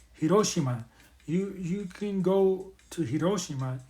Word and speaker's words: Hiroshima: do is go to Hiroshima, or I should pronounce it right, Hiroshima.